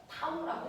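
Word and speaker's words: tau: 기호가 이렇게 써요 돌림을 나타내는 기호를 이렇게 써요 타오라고 읽어요 알파 베타 감마 타우 이런 식이야 타오라고 거 타우 됐어네 물체를 회전시키는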